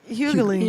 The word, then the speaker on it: Hughley: Her maiden name is Hughley. Yeah, Hughley like DL. No. Hughley or Hughley? Hughley. Yeah, man. Y'all put them extra syllables in there.